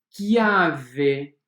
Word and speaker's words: chiave: Exemplo, chiave. Escrevemos CH e pronunciamos K. Chiave. Bicchiere, bicchiere, che. Então, todas as três palavras nós temos CH com som de K.